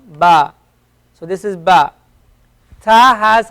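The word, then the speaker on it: ث: as as an S it's pronounced as a th like in the word theory a theory and the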